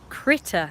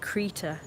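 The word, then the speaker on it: Krita: But I always pronounce it like Creator, because it's not got two T's. If it had two T's, I'd say Critter, but because it hasn't got two T's in it, I say Creator. But I think it's pronounced Critter.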